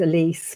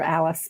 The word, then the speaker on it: Elise: during her name was Elise people called her Alice but her name was Elise which is the German pronunciation during the funeral I